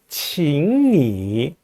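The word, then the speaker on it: 请你: 삼성 글자가 두 개 연달아 나오면은 앞에 있는 제3성은 제2성으로 바꾸죠. 그래서 请你先去 이렇게 발음합니다.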